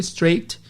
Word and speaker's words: straight: Temos straight escreve S-T-A-R-A-I-G-H-T, mas o GH é mudo, fica straight. Nós temos fight, de briga também.